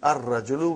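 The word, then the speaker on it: الرجل: And then, brother, Ar-Rajulu. Ar-Rajulu. The man. Not Al-Rajulu. It will be wrong to say Al-Rajulu. It will be Ar-Rajulu. We won't pronounce Lam. Why? Because it is a sun letter.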